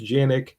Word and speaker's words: Canik: Rider 54 recently acquired a Canik, which I guess is actually pronounced Janik.